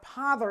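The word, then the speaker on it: pother: baby okay the word this week is Father it's spelled p-o-t-h-e-r Potter it's a noun which means it's a person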